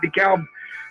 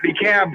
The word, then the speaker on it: DeKalb: mass in last night dekalb county they can't even pronounce it right you know they keep calling it the cab county i am opposed to